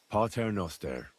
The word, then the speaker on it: Pater Noster: Pater Noster, qui es in celis, sanctificetur nomen tuum.